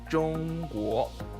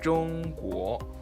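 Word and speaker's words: 中国: or China in Mandarin you say John war and the war it goes up like that so John war and war means land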